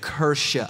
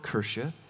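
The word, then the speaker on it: Kirche: language I apologize okay I looked this up in a pronunciation guide online I think it's right maybe okay but kersha I think is how you say that and so they're building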